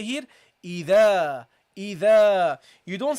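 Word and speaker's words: إذا: So you have to pronounce it lightly, guys. So you say here, إِذَا.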